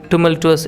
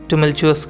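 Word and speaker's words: tumultuous: इसके अलावा किस तरीके से लीडरशिप करना चाहिए एक टुमल्टुअस एरा में। टुमल्टुअस आपको पता होगा, इसका मतलब आप कह लीजिए कि उतार चढ़ाव भरा हुआ है ना। टुमल्चुअस एक्चुअल में इसका प्रोनाउंसिएशन आप चाहें तो इसको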